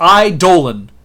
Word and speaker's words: Eidolon: And Blue Eidolon, that's how it's pronounced. Eidolon, you goofy, or whatever the thing.